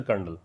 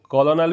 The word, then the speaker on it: colonel: आपसे पूछ सकते हैं, इसको बोलते हैं कर्नल है, इसको कॉलोनल भी बोलते हैं अमेरिकन इंग्लिश में, ब्रिटिश में पढ़ते हैं कर्नल, स्पेलिंग COLONEL याद रखिएगा।